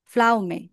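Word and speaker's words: Pflaume: বলা হয় হচ্ছে কসেম ফ্লাউমে তারপরকে বলা হয় হচ্ছে প্রিকোজে পি এর উচ্চারণটা হবে না। ফ্লাওমের হচ্ছে যেখানে সেখানে এখানে পিটা সাইলেন্ট থাকবে।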